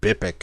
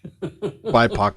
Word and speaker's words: BIPOC: Or I could pronounce it Bipic if you want. I don't know. Bipic. BIPOC is more.